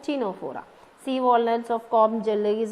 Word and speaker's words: Ctenophora: C is silent, Ctenophora.